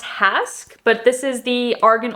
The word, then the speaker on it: Hask: it is pronounced Hask, but this is the Argan Oil Repairing 5-in-1 Leave-In Spray.